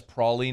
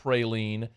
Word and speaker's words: praline: cream cheese your praline yes praline not praline you can even go to Google do the little speaker microphone where it tells you how to pronounce it it says praline you know I'm talking